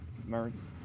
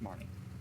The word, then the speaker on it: Marne: let's get started Marin Marine Marne it's Marne I looked if I